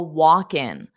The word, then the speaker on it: walk-in: because the L is not pronounced on the word walk. So it's just walk, right? Walk. And then because you have in, what I do is I take that K and I pronounce it on the next sound. So it's walkin, walkins, and there's an S, kins, walkins, walkins.